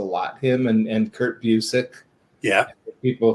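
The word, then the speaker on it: Busiek: pronouncing them yeah yeah yeah because once again mispronounced a lot him and and kurt busick yeah people saying bucyak um and of course bilson kevich you know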